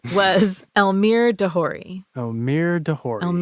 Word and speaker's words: Elmyr de Hory: Elmyr de Hory. de Hory.